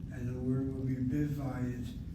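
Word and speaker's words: בבית: And the word will be bivayit. Bivayit. Accent is on that patak, short vowel with syllable. Has to be accented.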